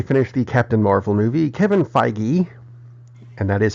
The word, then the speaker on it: Kevin Feige: news after they finished the Captain Marvel movie Kevin Feige and that is how it's pronounced I called Marvel and asked hey they're